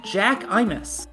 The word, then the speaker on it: Jack_imus: We have the number 5 seed Jack Imus against, or I think it's pronounced Jackimus, actually.